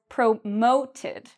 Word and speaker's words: promote: And when we say it, we put the stress, or we say the second part louder and longer. I was promoted.